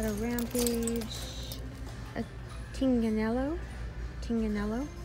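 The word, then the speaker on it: Tignanello: and over here we've got a rampage a Ting Canelo tinganello that's how you pronounce it I looked it up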